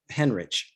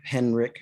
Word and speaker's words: Henrich: what was his name joseph henrich or henrik or i don't know how you pronounce his name huh go ahead oh um yeah it's it's it's h-e-n-r-i-c-h heinrich oh they even it's even without the eye it's uh heinrich okay so um so